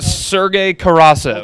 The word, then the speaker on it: Sergei Karasev: How you pronounce his name? Karasev? Sergei Karasev.